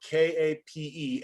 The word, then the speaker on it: Kape: They're Hungarian, spelled with K-A-P-E. And in fact, I think it's in Hungary. I could be wrong, but I think it's pronounced Kape, but I'm not entirely sure.